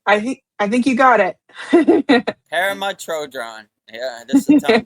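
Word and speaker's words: Pema Chödrön: Pema Chodron, right? I think you got it. Pema Chodron.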